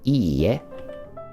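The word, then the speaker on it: いいえ: We've got two e characters, right? It's not ie, which means house. It's iie. No.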